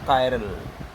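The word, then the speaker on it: chiral: CH is termed as, CH is pronounced as क। तो इट इज कायर। वो कायर बुजदिल वाला भी कायर नहीं, हाँ।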